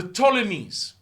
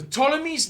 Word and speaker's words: Ptolemies: You don't pronounce the P. Why? I don't know. The Ptolemies ruled Egypt for centuries, and they were Greek.